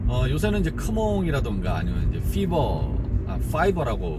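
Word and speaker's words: Fiverr: 그런데 이제 또 내가 그러한 능력이 없다 하더라도 걱정을 안 하셔도 되는 게, 요새는 이제 크몽이라던가 아니면 이제 파이버라고 뭐 발음하라고 그러던데, 파이버 미국이죠.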